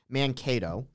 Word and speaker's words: Mankato: By the way, first off, it's actually pronounced Mankato.